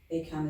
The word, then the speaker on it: ACAMH: ACAM is spelled ACAMH.